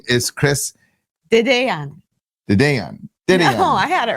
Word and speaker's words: Dedeyan: It is beautiful, and the key is Dedeyan. To say it fast, because you say it really like Dedeyan, and it's like you just it's almost like one syllable.